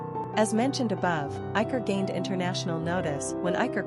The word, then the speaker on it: Iker: Quick facts on Iker. Gender, boy. Origin, Spanish. Number of syllables, 2.